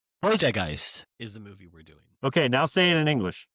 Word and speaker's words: Poltergeist: So, in English, it's poltergeist. Poltergeist, right? Not politist. Poltergeist.